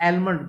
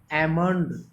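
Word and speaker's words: almond: तो यहाँ पर एक वर्ड दिया गया है एलमंड, जो मैंने अभी आपके सामने प्रोनाउंस किया। तो एलमंड नहीं होता, सही प्रोनाउंसिएशन भी आप इंप्रूव करते चलिए। एलमंड नहीं होगा, एमंड, एल यहाँ पर साइलेंट रहेगा, एमंड ट्री।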